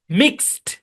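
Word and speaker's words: mixed: তারপরে reached, মিক্সড, মিক্সড, হ্যাঁ, আপনার ডিটা টি এর মতো সাউন্ড দেবে। জি, আশা করি বুঝতে পেরেছেন।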